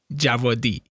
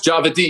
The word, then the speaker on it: Djawadi: but it's javed so it's like a silent d and a german w it's very confusing uh yes one thing